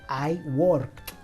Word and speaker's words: worked: Para el sujeto I, entonces nos quedaría I worked con una pronunciación al final con una T. En presente lo pronunciamos I work Pasado, I worked, con T al final.